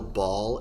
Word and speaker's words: Baal: fall on ball suus um ball spelled b a a l because space yes um he obviously had